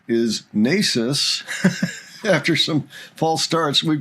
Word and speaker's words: Naces: at 15, Nasis, yes, we've learned that the pronunciation is Nasis after some false starts.